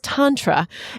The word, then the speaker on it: Tantra: It's Tantra, and it is a nebulous concept, but I am so excited to dive further into it because chances are you've heard about Tantra as well and have a little bit, if